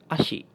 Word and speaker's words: asyik: Next one, so this when you put an S and Y together it will make the "sh" sound like the way sheep in English so it has this "sh" sound.